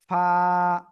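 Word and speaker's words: ف: সবাই এই যে দেখেন নিচের ঠোটের পেট উপরে দুই দাতের আগার সাথে লাগাবেন লাগিয়ে মোটা আওয়াজে না কিন্তু সিম্পল হালকা মুখ দিয়ে বাতাস বের করে উচ্চারণ করতে হবে আমি আবারও বলছি খেয়াল করবেন ফা ফা ফা ফা এই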